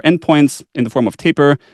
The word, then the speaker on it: Tapir: in the form of Taper or Tapir, the way that I think this is correct pronunciation, Smithy 4S, and then